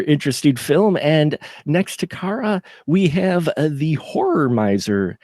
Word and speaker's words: Kara: I apologize the I go by Cara but I'm not picky about it okay well will me I'll make sure to say Cara I want to pronounce it correctly but how are you